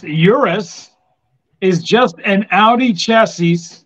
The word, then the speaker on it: Urus: not fake news here the Euros pronounced Urus is just an Audi